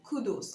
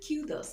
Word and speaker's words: kudos: King does notice that the stress is on the first syllable so it's killed us and also kudos of who killed us